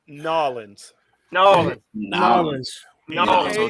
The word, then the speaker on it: New Orleans: It's spelt Nolans.